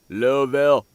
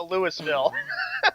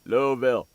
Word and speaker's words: Louisville: shaba they pronounce it lville okay so we can we can scratch out the Lewisville good J they pronounce it louville my friend on Skype